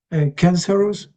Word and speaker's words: cancerous: So, sort of imagine maybe that the O isn't there perhaps. So, it's just cancer and us pretty much cancerous.